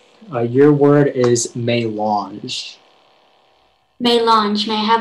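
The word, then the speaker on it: mélange: uh your word is may launch may launch may i have all the information yeah so it can be pronounced may launch or may launch it's a noun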